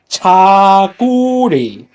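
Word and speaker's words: 저고리: And the top part, the pink, is called jagori, or how do you say it? It's Cha- called chaguri.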